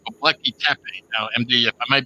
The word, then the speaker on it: Göbekli Tepe: So for example, there was a new discovery recently in Turkey called Göbekli Tepe. Now, MD, if I might be pronouncing that wrong, Yeah. I think it's Gobekli Tepe.